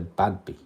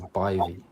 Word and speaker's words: Badb: So Badby, Badb, was actually meant to be said as Bivy.